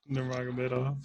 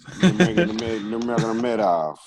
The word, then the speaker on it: Nurmagomedov: Nurmagomedov. Nurmagomedov, yeah.